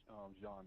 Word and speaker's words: Jean: Pronounced John, by the way.